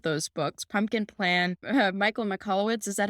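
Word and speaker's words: Michalowicz: Pumpkin Plan, Michael McCallowitz, is that how you say his name? You probably Mike McNelowicz, yeah.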